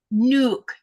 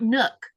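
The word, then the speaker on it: Nuuk: The way the person was pronouncing in the documentary sounded like Nuke." Yes, it's not Nook.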